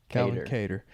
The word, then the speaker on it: Kattar: Was it Cater or Qatar? How do you say his name? Cater. Calvin Kattar.